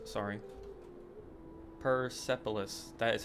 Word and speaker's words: Persepolis: Or Priapolis, sorry. Persepolis.